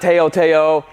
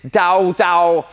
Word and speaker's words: TaoTao: the first thing being is how to actually pronounce the name of this bike it's not Taotao it's Tao Tao it's a Chinese its Dao Dao this one is a Pablo so when Caleb's